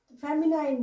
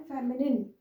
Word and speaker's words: feminine: जैसे यहाँ लिखा है LINE, तो बहुत सारे लोग बोलते हैं मैस्कुलाइन, FEMININE, यानी कि नाइन, फेमिनाइन बोल देते हैं, नाइन बोल देते हैं लास्ट में। तो इसको प्रोनाउंस करें तो इस तरह से करें, मैस्कुलिन एंड फेमिनिन जेंडर, ठीक है।